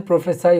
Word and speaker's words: prophesy: प्रोफेसी ये एक noun है, PROPHECY और ये प्रोफेसाई इसका प्रोनाउंसिएशन प्रोफेसाई होता है। ये एक वर्ब है PROPHESY, उसमें CY है नाउन में और इस वर्ब में SY है।